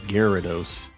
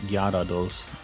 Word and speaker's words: Gyarados: guillerados guerridos it's it's I know a lot of people say uh like Gyarados but it's like Japanese is the same as its English it's Gyarados so like I don't know it they do say the why in it and I don't